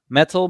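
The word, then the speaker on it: Mettle: and a couple of other things and metal it's spelled m-e-t-t-l-e metal made a plug-in for me um called squirkles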